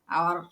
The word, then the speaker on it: hour: Karim has been sleeping for 1 বা an hour, আওয়ার, হ্যাঁ অ্যান আওয়ার। যে সমস্ত শব্দগুলা এস থাকা সত্ত্বেও অ বা আয়ের মতো উচ্চারণ হয়, সেখানে এ না বসে এন বসে, এটা হচ্ছে আর্টিকেল।